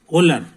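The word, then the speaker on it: Wöhler: बन सकता मगर फ्रांस का एक आदमी हुआ होलर समझे कि नहीं तो होलर जो था उसका स्पेलिंग है डब्लू ओ एच एल ई आर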